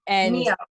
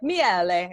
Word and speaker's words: Miele: I always say your name wrong, and every time I say it, I just hope you don't yell at me. Oh, I have never corrected you because it doesn't matter. And Mio. It's actually Miele.